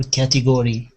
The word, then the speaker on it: category: Is it category or category? Category. I would say category. Category. Okay. So like the stress is on the beginning.